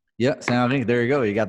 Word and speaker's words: Saint Henri: Saint Henri. Yeah, Saint Henry. There you go. You got the pronunciation and everything.